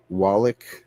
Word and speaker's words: Wallach: Wallach. Is that how you pronounce it?